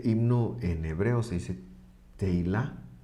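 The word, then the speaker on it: תהילה: Se dice teilá o teilim, se dice himnos en plural.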